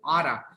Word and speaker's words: ought to: to except how to but in pronunciation you say otta so you you don't say the the two you ought to go